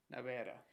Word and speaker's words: nevera: Nevera. Muy bien, recuerden, la pronunciación es Nevera.